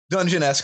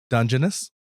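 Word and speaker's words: Dungeness: wrong the whole time you said you say dungeoness I say dungeon S I think both are acceptable okay well because I'm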